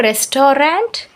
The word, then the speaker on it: restaurant: It is not restaurant, it's a restaurant. Okay, only 2 syllables.